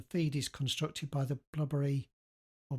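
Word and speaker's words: Blubrry: And the feed is constructed by the blubbery or blueberry. Um I like to call it blubbery. Um if they wanted it pronounced blueberry, they should have put all the vowels in, shouldn't they?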